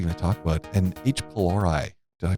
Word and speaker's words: H. pylori: what are we going to talk about and each polari did I pronounce that correctly yeah you pronounced that pretty